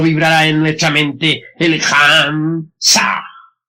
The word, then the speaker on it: Ham: Ham se escribe con las letras H-A-M. Saj se escribe con las letras S-A-H. La H suena siempre como J.